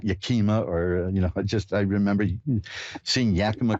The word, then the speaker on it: Yakima: Hi, did I pronounce that right, Yakima?